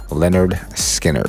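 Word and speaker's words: Lynyrd Skynyrd: major hit with their hard driving debut album pronounced leonard skinner in 1973 which featured one of the most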